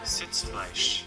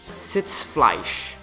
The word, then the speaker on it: Sitzfleisch: So let me get the actual pronunciation here. Sitzfleisch. Sitzfleisch. Sitzfleisch. Sitzfleisch.